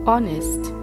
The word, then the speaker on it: honest: Honest. H is silent.